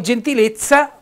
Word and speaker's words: gentilezza: tanti altri scrittori poi gentilezza proprio per rendere la pronuncia bella forte di questa parola gentilezza con una z bella dura ha preferito mettere le